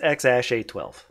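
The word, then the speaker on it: X Æ A-12: Then Oh, AE is that's pronounced like right. Ash, and then A12. So it's X Ash A12.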